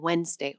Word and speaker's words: Wednesday: The D and the N in Wednesday are not mistakes. They were once pronounced wed. Three distinct syllables fully articulated. But in natural speech, sounds that are awkward to say next to each other get dropped. The D became silent because wedgeness is genuinely hard to say quickly, so speakers started skipping it.